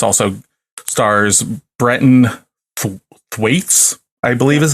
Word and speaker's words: Brenton Thwaites: It's also stars Brenton Thwaites, I believe is how you pronounce it.